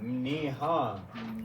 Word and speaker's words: mniha: Just start the word with your mouth closed. And then open it with the end sound. Mniha.